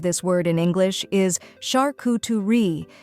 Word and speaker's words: charcuterie: How to pronounce charcuterie correctly. The most common pronunciation of this word in English is shar-coo-tuh-ree, with the emphasis placed on the first and third syllables.